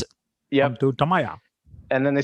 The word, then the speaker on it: Tamiya: It's not Tamiya, it's Tamaya.